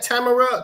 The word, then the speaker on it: Tamara: So is it Tam Tamara Tam Tamar? You said it right the first time. Okay. because most people butcher my name up. You said it right. Tamara, you got me first time.